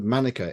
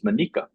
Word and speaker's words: Manica: site visit recently and I was taught that the pronunciation is manika uh so I'm trying to transition onto that as well um so manika is